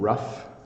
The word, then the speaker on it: rough: the words rhyme so this G H is an F sound rough and then I have